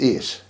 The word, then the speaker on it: eat: A instead of E. In other words, it's not meat, eat, it's ate, A.